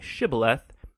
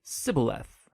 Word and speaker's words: shibboleth: wanted to cross to pronounce the Hebrew word shibboleth. It turned out that the Ephraimites had grown up pronouncing that word differently, so instead of saying shibboleth, they would say sibboleth.